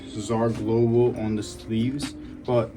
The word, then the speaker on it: Czar: doesn't say Czar Global, it says Z Star, which a lot of people even pronounce my brand like that. It doesn't really bother me because I think eventually, like, I'm gonna get big enough where people gonna know it's Czar, but like, it actually